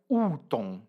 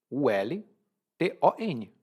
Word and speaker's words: Ulton: Se você vê essa palavra, você pronuncia Ulton. U-L-T-O-N.